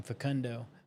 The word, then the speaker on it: Facundo: And those of y'all that don't speak Spanish, they call him Facundo, because that's how you say his name, Facundo.